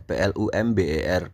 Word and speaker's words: plumber: the just left plumber itu tulisannya plumber plumber ya guys ya p l u m b e r bacanya plumber gitu a enggak pakai b plumber the